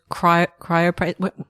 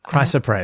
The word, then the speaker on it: Chrysoprase: I was Cryopraise. Chrysoprase. Chrysoprase. Yeah, Chrysoprase. I think that's how you say it. I was trying to remember where the R's go.